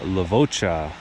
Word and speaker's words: Levoča: town of lavaca or lavaca as it's pronounced in Slovakia lavaca is a town of